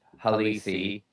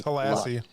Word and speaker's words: Halassi: And then Khalif Halisi, I think, was somebody they really liked. You can say it right. It's Halassi. Is it Halassi?